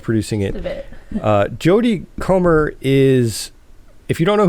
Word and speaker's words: Comer: And so they're adapting this into a movie now, starring Jodie, I think it's pronounced Comer, something like that. Jodie Comer.